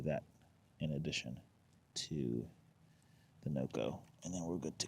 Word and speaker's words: NOCO: so what I have in addition to the Noco that's how you say it I have also